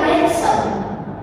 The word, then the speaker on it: handsome: Oh bacanya ya handsome.